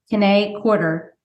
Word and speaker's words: Kiné Corder: and so I'm super excited about today's guest K quarter did I say it right yes I was